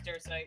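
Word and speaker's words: Dersite: I pronounced that wrong. I'm not sure what it is. It's Dursite. Yeah, it's right? Dursite. Okay, thanks.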